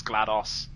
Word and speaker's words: GLaDOS: I don't know, I've always pronounced it as GLaDOS. And hello, me. How are you? Because it's pronounced DOS, not DOS. Because it's genetic life form and disk operating system.